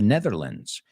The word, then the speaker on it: Netherlands: a Dutch American guitarist Dutch hollandes from the Netherlands it's another way of saying Los paises the Netherlands we don't say lands and it's lens the Netherlands and where would you